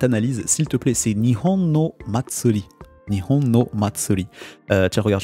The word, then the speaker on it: 日本の祭り: excuse-moi Jérémy, tu peux me redonner la prononciation du titre de cette analyse, s'il te plaît. C'est Nihon no Matsuri.